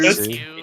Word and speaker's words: Dimitrescu: I can't pronounce the name of that vampire lady from Resident Evil. What is it? Dimitrescu. Dimitrescu, Yeah.